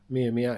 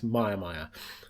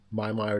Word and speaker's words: Mia Mia: My mum actually reliably informs me that the town is not Mia Mia, it's Myamya. So, if you're a local and I've been pronouncing your town wrong, I apologize. Myamya it is.